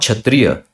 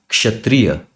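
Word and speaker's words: क्षत्रिय: This word is not kshatriya. It is kshatriya. Kshatriya. So this is the correct pronunciation of this word.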